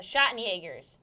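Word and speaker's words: Schattenjäger: I always say it wrong, it's German. What did they call it? Something with a sh sound. The Schottenjägers.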